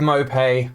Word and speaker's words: Maupay: who have joined okay we're gonna start with mopay apparently that's how you pronounce it that's one new thing i've learned